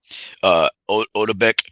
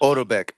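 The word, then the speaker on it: Otabek: Odebek Kolmatov. Odobek.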